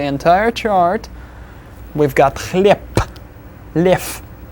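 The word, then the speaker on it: лев: Lev will be pronounced as lev.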